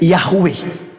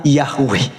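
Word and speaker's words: Yahweh: langit dan bumi adalah Yod he W he yang di kita kenal sebagai yahwe ya kita bacanya sebutnya yahwe Nah jadi teman-teman sekalian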